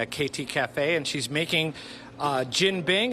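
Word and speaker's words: jianbing: KT is making one, or the place is named after Katie, KT Cafe, and she's making Jin Bing. It's spelled J-I-A-N, but it's pronounced Jin Bing.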